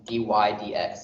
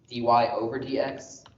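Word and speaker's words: dy/dx: read that one out loud is we literally pronounce that to ourselves as d y d x so no one really often says d y over d x but when you say d y d x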